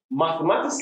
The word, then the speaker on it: mathematics: How to pronounce or the correct pronunciation of key vocabularies in mathematic register. Here we go. So, mathematics learners, mathematics teachers, lovers of mathematics, parents, friends,